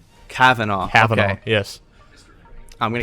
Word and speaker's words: Kavanaugh: My name is George, and this is, help me with your pronunciation. Kavanaugh.